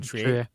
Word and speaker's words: Triet: actually think that uh the tri is how we say it right is you say Justin Tri okay she did a